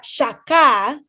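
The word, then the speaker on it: שָׁחָה: luego adoran al señor esa palabra adoran que se pronuncia saca saca esa palabra significa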